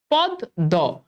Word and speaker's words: পদ্ম: আমরা লিখলাম যে পদ্ম, এখন দেখো তো পদ্ম এটার উচ্চারণটা যদি লিখি, একটু খেয়াল করে দেখো, পদ্ম এটার উচ্চারণটা যদি লিখি পদ দ, আচ্ছা বলো তো এখানে কি ময়ের উচ্চারণ আছে?